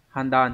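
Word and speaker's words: 判断: Có trong từ handan chẳng hạn.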